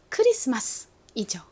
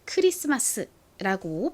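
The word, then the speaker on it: Christmas: 크리스마스라고 발음을 하는데요 영어식으로는 크리스마스 크리스마스 크리스마스 요렇게 발음이납니다 저희 한번 영어식 발음도 멋지게 연습해 볼게요 앞쪽을 빡 강조를 해 주셔야 돼요 크리스마스 이렇게 앞부분에는 힘이 빡 들어갔다가 뒷부분에서는 좀 약해지죠 따라해 보세요 크리스마스 한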